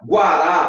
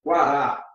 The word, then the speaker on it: Guará: Mas se esse U for pronunciado, olha só, Guará, por exemplo, Guará. Em Guará aí, ó, você não tem dígrafo, não. Em Guará você não tem dígrafo, porque o U é pronunciado.